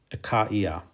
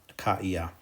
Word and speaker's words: Achaia: So the diaresis there makes it be pronounced Achaia. Achaia.